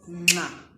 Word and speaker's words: nxa: In this lesson, I'm teaching you the Ndebele click nga. Okay. Here is how we pronounce it. Nga, nge, ngi, ngo, ngu. There's an N there, if you're hearing it.